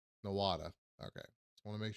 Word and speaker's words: Nowata: This and Nowata. Nowat, I don't know. Let's see what AI says. The correct pronunciation is Noata. Nowata.